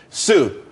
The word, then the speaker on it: Tsu: there's more money and everyone could be happy Sue TSU it's pronounced Su though that's that's a website.